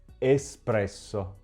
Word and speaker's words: espresso: Espresso. In questo caso l'errore è sia nella pronuncia che nell'uso della parola.